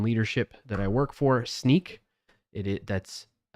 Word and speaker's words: Snyk: Speaking of being able to do that, shout out to my company in leadership that I work for, Sneak. That's spelled SNYK.